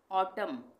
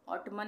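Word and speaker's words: autumn: ऑटम, ऑटमन नहीं बोलेंगे, ऑटम।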